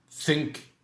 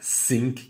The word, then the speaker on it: think: Think, thought, thought. On prononcera bien think et non pas sink qui veut dire couler. Mais think qui veut dire penser.